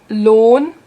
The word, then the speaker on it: Lohn: And oh yeah, the H, you don't pronounce the H if it's after a vowel. For example, zählen, führen, Lohn.